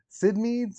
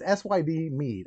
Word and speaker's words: Syd Mead: doesn't just sentinel uh basically by sid meads it's syd mead i always get it i always say it wrong and the book was